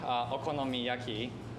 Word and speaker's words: okonomiyaki: And actually, we have like one hot dog that has a topping of okonomiyaki, and American people really liked it.